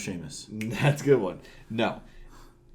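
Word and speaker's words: Seamus: lot you ready uh truth his name is pronounced Sheamus that's a good one no is from Ireland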